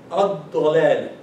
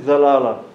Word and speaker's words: الضلالة: Dad here, like dad here. الضلالة. Okay. So I was pronouncing Zalala. No, Yeah, which is wrong.